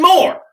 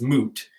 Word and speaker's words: Moote: and it goes Bend more no way okay so everybody says my name wrong it's moot if you don't know it's mo te and I was like